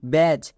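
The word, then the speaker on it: badge: এ ডি জি ই ব্যাজ এবার এখানে দেখো এখানে ডি রেড কালারের লেখা আছে কেন কারণ ডি এখানে সাইলেন্ট মানে এর উচ্চারণ হবে না তাহলে কোশ্চেন হচ্ছে আমরা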